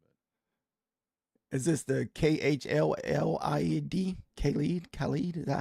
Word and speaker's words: Khalid: Khalid?